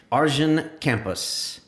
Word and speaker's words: Arjen Kamphuis: Arjen Kamphuis, who is the co-founder and CTO of Gendo. Is that pronounced right?